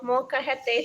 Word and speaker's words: molcajete: the rock is called Molcajete.